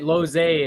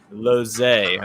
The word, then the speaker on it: Lozej: Welcome to the show, Devon Lozej. I hope I said it right. How was that? That's all right. Lozej it is. Lozej.